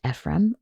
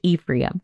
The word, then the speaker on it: Ephraim: Sons Manassa and Ephraim now sometimes you may hear it pronounced Ephraim or Ephraim we're going to go with Ephraim from now on and so Jacob claims